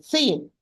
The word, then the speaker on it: س: example, if you are going to lighten the sad, you are going to pronounce a sin. If you are going to pronounce the sin as a heavy sound, you are going to pronounce it as sad.